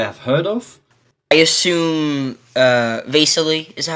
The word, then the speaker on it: Vasily: I assume Vasily is that how you pronounce it? Vasily, somewhere around there.